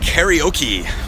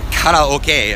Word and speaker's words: karaoke: Okay, so these buildings here are a franchise for karaoke, and or karaoke as they pronounce it here.